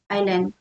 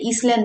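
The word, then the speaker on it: island: आइल, आइल, आइलैंड, आइल्स, okay, आइल, इसका pronounce को आइलैंड, इसको हम बोलते ईसलैंड नहीं बोलते, आइलैंड का इसका एस साइलेंट होता है, आइलैंड, आइल्स।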